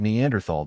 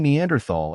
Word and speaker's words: Neanderthal: time was th but the H is silent that said not everyone